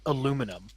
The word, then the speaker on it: aluminum: This one's perfectly done because it's made out of aluminum.